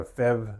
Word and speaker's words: PHEV: things you've maybe heard some people say they've got a fev vehicle and they're just uh taking the phev acronym and pronouncing it so pH V meaning fev but uh it often people